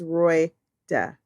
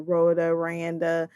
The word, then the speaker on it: Royda: Her name is Royda. Royda. How hard is that? Royda. They call her Rhoda, Rhonda.